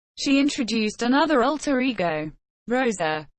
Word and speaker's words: Rosa: She introduced another alter ego, Rosa, pronounced with an exaggerated R, to commemorate her December 2010 appearance on Lopez Tonight.